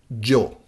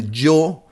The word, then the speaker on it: yo: In Spanish would be something like when you say Joe, the name Joe without the O, Joe.